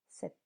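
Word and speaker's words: sept: Remember letter P is silent. 7.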